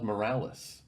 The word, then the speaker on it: Morales: See, I thought it was like a play on morals.